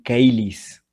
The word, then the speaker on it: caelis: Porque en el latín clásico sonaría pater noster quies in caelis, ¿sí? No se dice cheli, sino caelis.